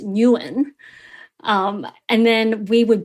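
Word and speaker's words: Nguyen: the surname yuin is isn't pronounced win like it is in America it's pronounced Newen um and then we would butcher it further sometimes for fun by calling them like nugen um so like we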